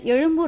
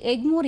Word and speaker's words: எழும்பூர்: உதாரணமாக சென்னையில் உள்ள எழும்பூர் ரயில் நிலையமானது ஆங்கிலத்தில் எக்மோர் என்று அழைக்கப்படுவதுடன் எக்மோர் என்று எழுதப்படுகிறது. அவ்வாறு இல்லாமல் இனி எழும்பூர் என்றே ஆங்கிலத்திலும் எழுத வேண்டும் என்றும் உச்சரிக்க வேண்டும் என்றும் இந்த அரசாணை மூலம் அறிவுறுத்தப்படுகிறது.